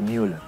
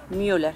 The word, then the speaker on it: Müller: Se pronuncia Müller. Müller. Por las diéresis.